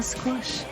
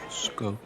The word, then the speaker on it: skosh: Just have a squish. It's pronounced skosh.